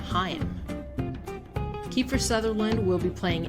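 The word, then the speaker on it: Haim: band whose guitar player is in licorice pizza pronounces its name heim kiefer sutherland will be playing fdr in the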